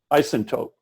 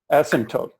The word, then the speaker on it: asymptote: What do you call it when you reach the isotope, or I'm not pronouncing it correctly. Say it again. Asymptote.